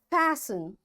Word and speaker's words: fasten: Fasten, castle or castle, often, whistle, soften, hasten, bustle, and gourmet. There are different words, but in all these words, T is silent.